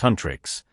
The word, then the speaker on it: HUNTR/X: Rumi, the fierce and ambitious leader of the world-famous K-pop girl group HUNTR/X, pronounced Huntrix, stands alone in their luxurious dorm, staring intensely at her reflection in the mirror.